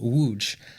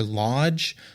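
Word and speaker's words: Łódź: laws or loads or Lodge or however else you might pronounce the letters l-o-d-z uh in English that's not how it's pronounced in Poland so I'm going to go with the Polish pronunciation which hopefully I'm pretty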